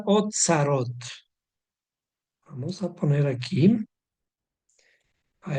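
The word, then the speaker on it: אוצרות: Tenemos una palabra hebrea que se pronuncia otzarot. Vamos a poner aquí. A esto se le llama otzarot.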